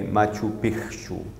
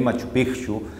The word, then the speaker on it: Machu Picchu: Eu sei que quando a gente lê, literalmente pronunciamos Machu Picchu, mas a expressão correta é Machu Picchu.